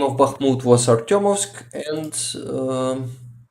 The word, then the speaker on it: Bakhmut: But yes, Bakhmut, actually the right way to say it is Bakhmut, not Bakhmut.